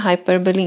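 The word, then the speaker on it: hyperbole: हाइपरबली इसकी pronunciation क्या है, हाइपरबली।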